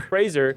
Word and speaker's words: Fraser: I didn't think Brennan uh Frasier Fraser Fraser like raser that was what I